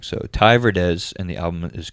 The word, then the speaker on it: Verdes: first time we did this I pronounced his name wrong so Thai Verdes and the album is called TV um this